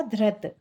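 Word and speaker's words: घृत: धृत, धृत यानी घी, धा में रा लगा हुआ है और ता में कोई मात्रा नहीं है तो क्या होगा? धृत।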